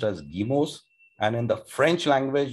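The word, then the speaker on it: guillemets: called we english speakers would read it as gilimetz but it's a french word and it's pronounced as guimos and in the french language you don't have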